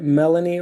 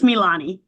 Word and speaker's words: Milani: pronounced your name incorrectly is it Melanie or I know we had connected at some point can you pronounce it correctly it's it's Milani Milani Milani and I I appreciate